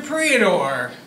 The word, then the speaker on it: Priador: Priador. Rhymes with Theodore.